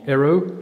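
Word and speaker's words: Hérault: sanus defont we're in the Depart of the Aro which is spelled h e r a u l t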